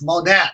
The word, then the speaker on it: Monat: Oh, God, you even got the name wrong. It's Monat, Lionel.